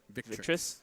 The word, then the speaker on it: Victrix: I think it's Victrix. Victrix. Yep.